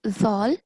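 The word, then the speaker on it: ذال: And do you know how to pronounce this letter? Z. Okay, not Z. So let me give you an example. So all of these are letter Zal and they have a vibrating sound, completely different from the letter Z.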